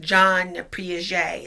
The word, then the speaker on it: Jean Piaget: something like that but pronounced in French Jean Piaget okay so